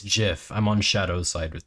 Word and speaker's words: GIF: It's literally just called it's pronounced GIF.